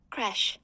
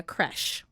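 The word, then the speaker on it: crèche: How do you pronounce it? Hold on. Let me see if it'll say it out loud. Creche.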